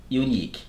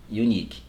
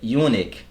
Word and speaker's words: unique: da questão de pronúncia a pronúncia correta é e o Nick sim é bem afrancesado mata pronúncia correta é e o Nick se você disser Bionic é outra coisa Tá então e o